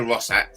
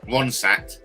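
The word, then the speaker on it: Ronstadt: I remember Linda Rossat from and I'm pronouncing it wrong. Ronsat from years ago.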